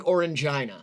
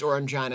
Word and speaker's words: Orangina: it's kind of like orangeina yeah Orangina is I think it's pronounced Orangina I'm gonna stick with that but orangeina is to